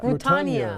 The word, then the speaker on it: Rutanya: How you pronounce that name? Rutanya. Rutanya Alda.